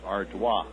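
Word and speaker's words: Ardoin: this is danny ardua a-r-d-o-i-n pronounced arduino the 1-0 pitch is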